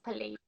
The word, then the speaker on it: Pleiades: Pleiades.